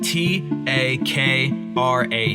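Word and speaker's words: takraw: If you see a video, which I highly encourage you to look it up, it's spelled S E P A K Sapak and then T A K R A W.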